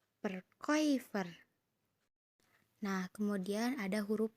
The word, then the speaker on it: Verkäufer: Kemudian ada A umlaut bertemu dengan U. Dibacanya OI. Sama ya kayak yang tadi. Contohnya Verkäufer. Coba teman-teman ikuti kata Verkäufer. Verkäufer.